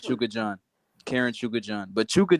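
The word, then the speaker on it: Chukhadzhian: It's pronounced Chuka John.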